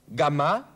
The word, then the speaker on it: Gamma: Folgt aber auf das G irgendein anderer Buchstabe, so wird das G wie G ausgesprochen. Zum Beispiel vor A, O oder U. Gamma, Gobelin, Guillotine.